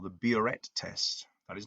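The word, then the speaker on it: biuret: about something called the buret test that is not a misprint it is really spelt like that and the way i pronounce it we'll do bioret test so we can then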